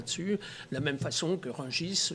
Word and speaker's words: Rungis: la même façon que rungis normalement on ne devrait pas prononcer le s à la fin de mot dire j ai pas